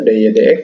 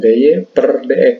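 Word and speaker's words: dy/dx: ditulis dengan dy dx, dibacanya dy dx, ya, bukan dy per dx, bukan dy dx saja.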